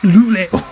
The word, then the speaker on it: Louvre: How do you pronounce Louvre in French? Louvre? Louvre? Louvre?